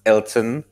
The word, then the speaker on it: Elten: the company is spelled Elten, so like Elton.